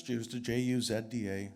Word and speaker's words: Jewsda: It's Jewsda, Juzda.